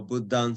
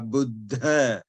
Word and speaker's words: Buddha: yeah um so therefore you have to really pronounce the aspiration now this is called this is with the path of air extra additional puff of air Buddha not Buddha but Buddha Charming versus cha yeah um